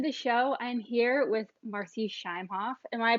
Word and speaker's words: Marci Shimoff: everyone welcome to the show I'm here with marci shimoff and why pronouncing your name correctly yes you are okay